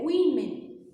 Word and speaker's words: women: No plural, como tem no texto, é women, perfeito? É só trocar o A pelo E, ok? E a pronúncia é completamente diferente. Women, no plural, women.